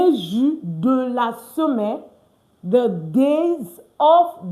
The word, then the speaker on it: de: And don't forget why it's pronounced do, because A, B, C, D, E. E is E. So D, E is de. S, E is se. L, E is le. Why? Because the E has the E sound in French.